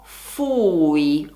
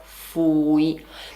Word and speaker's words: fui: La pronuncia della prima persona è fui, quindi attenzione in particolar modo per chi parla spagnolo. In spagnolo si dice fui, in italiano è fui.